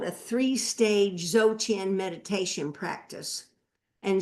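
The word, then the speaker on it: Dzogchen: But what it is is called a three-stage zochin meditation practice. And zochin means d is spelled dz o g c hen.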